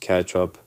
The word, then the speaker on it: ketchup: So, anyway, when I found out the word is like pronounced catch up, I was actually more than my brother actually teach me some new words.